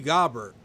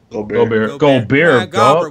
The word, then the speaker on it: Gobert: Rudy Gobert. Gobert.